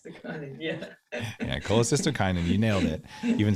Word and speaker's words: cholecystokinin: hormone i like to say honey yeah yeah cholecystokinin you nailed it you even said it right